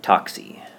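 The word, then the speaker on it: TOCSY: The last one, how do you pronounce that? Toxy.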